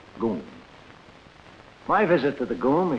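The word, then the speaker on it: GUM: the state-operated department store the goon spelled g-u-m pronounced goon my visit to the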